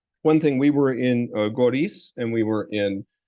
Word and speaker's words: Goris: Anyway, so in Syunik, one thing, we were in Goris, and we were in, like I said, we were in Datev. In Goris, it's interesting because, or actually Gyoris, that would also be like the local pronunciation, but the Artsakh flags are everywhere.